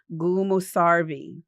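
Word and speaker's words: gümüşservi: So the ve is more like vumarvi.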